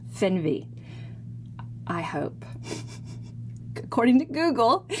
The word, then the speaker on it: Fernweh: It's pronounced FERNWEH, I hope. According to Google, it's pronounced FERNWEH, so hopefully I'm not butchering that German word.